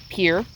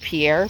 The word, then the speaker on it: Pierre: capital of south dakota pier it's it looks like pierre but like so many